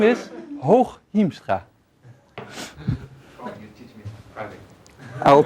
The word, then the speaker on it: Hooghiemstra: I promised to help you pronounce the name, right? The name is Hooghiemstra.